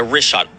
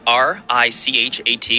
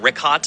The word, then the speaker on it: Richat: I used to call it Ricat. I was mispronouncing it.